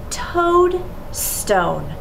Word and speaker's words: toadstone: what does it say is it todd or toad we know that this is toad because o-a always says o the next syllable is